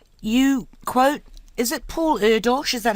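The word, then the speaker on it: Erdős: um others can't you quote is it Paul Eros is that how you pronounce it yes Hungarian mathematician who has said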